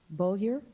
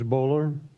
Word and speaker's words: Bowler: us so thank you okay next is Bulger the rate payer a bo you le are that's you okay I must have butchered your last name please pronounce it my name is bowler misspelled Bo you ill er I live in